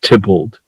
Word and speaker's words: Theobald: is a guy named John Theobald, pronounced Tybalt, who was a Shakespeare